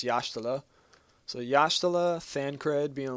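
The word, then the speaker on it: Y'shtola: so yashal which I used to call her ish TOA but I remember I've learned that Y in makot is y a h so you pronounce it yala so it's yashal so yashal thancred being a little pimp as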